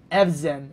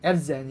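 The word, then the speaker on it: Evžen: Z is pronounced like the letter S in the word Asia. So it's Evzen. Evzen, yeah?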